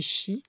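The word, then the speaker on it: 四: En phonétique japonais, 4 se dit shi, qui signifie également la mort.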